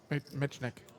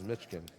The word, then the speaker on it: Mitnik: from our short stack Michael mnik is that how you say his name mitnik I thought it was I guess I don't read I thought it was mitkin I'm serious and this